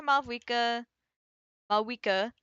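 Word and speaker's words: Mavuika: Okay, so we need to go back to Maua Mika. Sorry. Got to remember to not pronounce the V.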